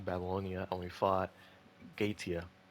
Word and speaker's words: Goetia: We fought Tiamat in Singularity 7, Babylonia, and we fought Gaetia. I used to call it Goetia, but apparently it's not how it's pronounced.